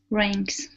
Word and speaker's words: ranks: good uh next up whenever you have an A and K together like that the a is always a long a sound so instead of ranks it's a ray ranks ranks okay okay good so